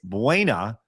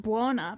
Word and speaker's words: Buona: That's pronounced Buona, but you know Buona? What? Okay. You just make me sad. Well, that is Buona.